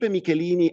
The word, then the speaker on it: Michelini: Of course, Felipe Michelini as a specific, I'm pronouncing his name the Italian way, I apologize. And whenever I would pronounce his name, he would say Delle Piane, mentioning the second part of his surname, which came from the mother, also Italian, of Italian origins. In Uruguay, they say Michelini.